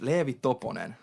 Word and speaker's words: Leevi Toponen: last name because it's hard for me to pronounce I I know your name but I I can't say it right so it's leevy toon okay and then what's your artist name it's